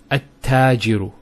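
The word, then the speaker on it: التاجر: The huruf shamsiyya, notice here, we have at-tajiru. At-tajiru. There's a shadda there.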